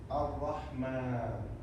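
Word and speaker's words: الرحمن: We write a small alif, a small a. When you see it everywhere in Quran, you have to pronounce it. You have to say it, Ar-Rahman.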